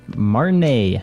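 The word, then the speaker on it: Martinaise: map of the district of, how do you pronounce it, Martin? Marnay.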